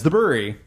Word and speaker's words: The Bruery: Brewery, but not, but spelt that way, but still pronounce the Brewery.